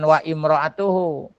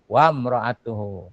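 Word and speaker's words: وامرأته: api wamroatuhu dan istrinya kalau dibaca satu-satu wa dan imroatuhu ya bacanya namanya begitu tuh hamzah wasol kalau dia di tengah-tengah hilang barisnya wam gitu jangan wa imroatuhu wamroatuhu tapi kalau dibaca satu-satu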